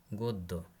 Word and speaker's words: গদ্য: শব্দের মাঝখানে সঙ্গে যুক্ত থাকলে ওই বর্ণের উচ্চারণ দ্বিত্ব হয়, যেমন উদ্যম, গদ্য ইত্যাদি। র বর্ণের উচ্চারণ, তবে র ফলা হিসাবে এর উচ্চারণে বৈচিত্র্য আছে।